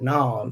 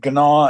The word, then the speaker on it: gnaw: See my my view is why is the letter G there in front of the word if you're not supposed to pronounce it in front of what?